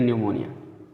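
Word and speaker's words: pneumonia: को भी मान लीजिए, तो निमोनिया पी एन से शुरू होगा तो पी साइलेंट रहेगा, इसमें एन से पढ़ना शुरू करेंगे, इसलिए न्यूमोनिया, ठीक है।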